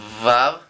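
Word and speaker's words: ו: Acordémonos que esta vav tiene el sonido, y estos ejercicios de verdad háganlos, parecen bobitos, pero te sirven muchísimo. Tiene el sonido de un avión bimotor. Es vav.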